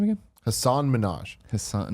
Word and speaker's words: Minhaj: Hasan Minhaj. Hasan, not Nicki Minaj. Not Nicki Minaj. It's spelled very Is he differently.